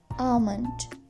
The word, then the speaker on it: almond: pronunciation rule number five if m is coming after L then L will go silent arms Palm C bomb almond salmon thank you so